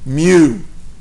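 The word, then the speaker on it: μ: letter Mew me now here's how you pronounce it okay in America cats say meow but in France cats cats say me okay so just imagine a cat meowing with a French accent Le okay me and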